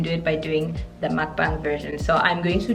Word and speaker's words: mukbang: going to do a mukbang many people pronounce this at mukbang it doesn't matter there's a lot if